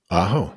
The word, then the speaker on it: Ajo: I believe it's Ajo, Arizona. Ajo, yes.